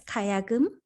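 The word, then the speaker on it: gayageum: So you obviously have a huge fan Kayagum. Am I saying it right? Yes, Kayagum.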